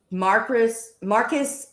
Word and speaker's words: Marquis: Marquis Reagent. Marquis reagent. Well, why don't you just say that to begin with instead of me having to try to pronounce that stuff? It should be spelled Marky. Marky.